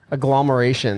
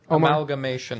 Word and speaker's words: amalgamation: one revolver you have is this is this elomeration. How do you say that word? Amalgamation.